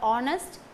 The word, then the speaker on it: honest: An honest man, in the word honest, H is silent. So, that it starts with the sound O, which is a vowel sound.